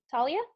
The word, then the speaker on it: Talia: then Evan Savannah harmony I'm gonna guess that's pronounced Talia Talia Talia alright good good good and then